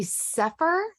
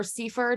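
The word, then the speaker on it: sefer: actually get a um a sepher edition of The Bible if you guys have heard it or Seifer depending on how you say it um that Olive toov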